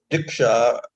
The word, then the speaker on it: Diksha: Diksha both 2 syllables diksha.